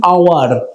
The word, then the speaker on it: hour: দেখো আওয়ার বানান HOUR, মানে সময় বা ঘন্টা আমরা যেটাকে বলি। অ্যান আওয়ার HOUR, এটা কিন্তু পিওর কনসোনেন্ট, কারণ এইচ একটা কনসোনেন্ট, কিন্তু এইচ এর উচ্চারণটা হচ্ছে অ এর মতন।